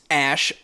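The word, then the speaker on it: Æ: the letter X then the AE is pronounced Ash and then uh a12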